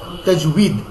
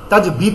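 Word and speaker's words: تجويد: দুই পেশ দুন, তাজউইদুন, তাজবিদ না তাজউইদ, ওই প্রথম যেটা লিখেছেন আপনি ওইটাই তাজউইদ। হ্যাঁ, তাজিম জবর তাজ, ওয়াও ইয়াজের উই, তাজ উই, দাল দুই পেশ দুন, তাজউইদুন, এটা হচ্ছে মূল উচ্চারণ। তাজবিদ না, ওয়াও কখনো বা হয় না। আমরা আরবির মতো করেই উচ্চারণ করব, কিন্তু আমরা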